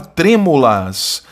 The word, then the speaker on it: trêmulas: É a palavra trêmulas, que é uma palavra proparoxítona. Então não é penúltima, é antepenúltima.